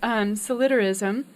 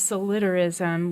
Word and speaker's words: solidarism: It's solidarism is how you pronounce it, I believe. We've come to. It's based on the word solidarity.